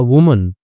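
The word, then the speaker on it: women: One night एक रात को अ वुमन, ठीक है, अब यहाँ पे देखो सिंगुलर है इसलिए वुमन है, प्लूरल होता तो यहाँ पे ई लगा देते और हम इसका उच्चारण करते वीमन, ठीक है।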